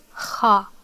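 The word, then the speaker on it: خَ: The fatha is above, it means you open your mouth while pronouncing it, so it's pronounced as kha, kha.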